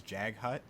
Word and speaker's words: Jaghut: of the Fallen, called I believe the pronunciation was Jaghut Tyrant. Anyway, and so the concept